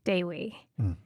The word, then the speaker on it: Dewi: And I think I even mispronounced it when I first saw the name because with my American brain, I was like, oh, Dewey. And then I had to go to some Dutch name pronunciation website, which is funny, to understand that the Indonesian E sounds like an A.